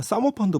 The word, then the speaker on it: 사모펀드: 자, 그리고 정말 논란이 많은 분야가 사모펀드 분야예요. 왜 사모펀드라고 하면 너무 우리가 약간 여기가 유흥업소 같으니까 이제 사모펀드로 하는 것이 발음을 시정하겠습니다.